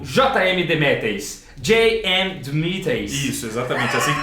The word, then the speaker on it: J.M. DeMatteis: J.M. DeMatteis. Isso, exatamente, assim que pronuncia mesmo.